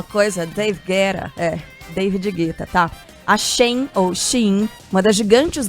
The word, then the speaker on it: Shein: A Shein, ou Shein, como a maioria fala, mas a Sheila, que é chique, trouxe pra gente aqui a pronúncia correta de Shein, tipo a mulher que tá na moda.